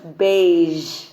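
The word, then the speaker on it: beige: vision बोल सकते हैं नाउ ज एट दी एंड बेज बेज actually कई लोग बोलते हैं इसको बेज बट वो ज साउंड नहीं है इट्स अ ज साउंड तो ज नहीं है बट ज है सो we will say इट एज बेज अब ज साउंड कह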